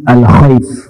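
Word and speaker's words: الخيف: Nah, jadi goa tersebut kalau kita ingin lihat masih bisa tempatnya dikenal dekat Masjid Alkhaif ya dibacanya Masjid Alkhaf.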